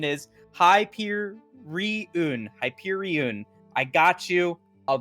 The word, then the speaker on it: Hyperion: to it but I've been told what the pronunciation is high peer reun Hyperion I got you I'll do it I